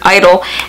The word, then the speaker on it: (G)I-DLE: you just call it Idol from what I've seen from them on like on there what is it their first showcase it is just pronounced I don't like the G is silent so that is what